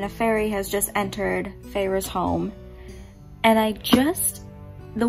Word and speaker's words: Feyre: our main character's name it is not fairy as i thought it was it's feyre it was very close so i'm on chapter 4 and a fairy has just entered feyre's home and i just